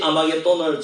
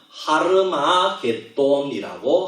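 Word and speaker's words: הר מגידו: 이 아마겟돈을 정확하게 발음하면 하르마겟돈이라고 하는 겁니다.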